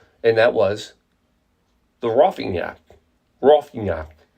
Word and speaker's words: Roffignac: Roffignac. Like cognac.